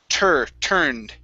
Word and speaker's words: turned: Okay, curve your tongue up, pronounce that R. Turned.